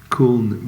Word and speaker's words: Köln: I think it's the piano player I used in the Köln concert, which is, Köln was German pronunciation of Cologne, which was one of the greatest solo live albums ever recorded.